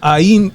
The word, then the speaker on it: Ainu: Ainu. Ainu. Ainu people of Japan. Spell that A I N U.